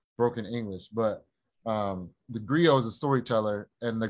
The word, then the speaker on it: griot: so the name is the griot g-r-i-o-t and the t is silent long-o uh but my family